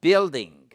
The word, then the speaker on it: building: une personne ou un building building on ne prononce pas le I. OK, on prononce pas le U, pardon.